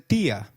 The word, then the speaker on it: día: Did you notice that dia has an I marked with an accent? In Spanish, if a word is marked with an accent, then that syllable receives the stress. So try saying dia again.